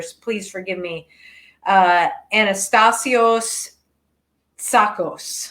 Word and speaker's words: Tsakos: Anastasios Tsakos. Tsakos, yeah, the T is silent.